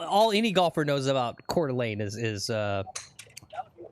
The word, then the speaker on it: Coeur d'Alene: It's pronounced Cordelane. What did I say? Cordelene. Did I say that? Cal. Cordelane.